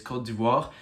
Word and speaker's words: Côte d'Ivoire: The best example for that is Ivory Coast, who changed their name to the French pronunciation, who is Côte d'Ivoire, and Swaziland, who changed their name to Eswatini.